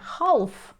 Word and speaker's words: half: половина або 30 хвилин пишемо через літеру lл але не вимовляємо її не halff а halff half половина